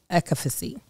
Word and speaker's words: efficacy: Ritual knows they conducted a university-led human clinical trial for their essential for women's 18 plus multivitamin as to assess its efficacy.